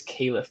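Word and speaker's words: Khalif: shooting you brought in khif battle who was I think it's kaith battle actually is how you say yeah the kid from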